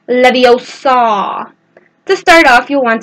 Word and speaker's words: Leviosa: might want to write down the words it's leve o saw you'll want to make sure to put -